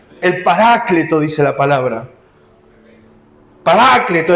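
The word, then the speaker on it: Paráclito: El Parácleto, dice la palabra, Parácleto es el acento en la segunda A.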